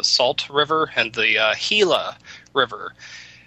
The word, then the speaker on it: Gila: the uh hila River you'd want to spell it h i l a and you'd think oh it's Spanish it's j IA no it's g i l a yeah the Gila River pronounced heila how the hell they